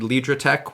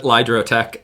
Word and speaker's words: Lidrotec: beginning of the accelerator, I will remember to pronounce it Lidrotec and not Lidrotec. It's just easier in English to say Lidrotec, but in German we actually say Lidrotec, so both work fine.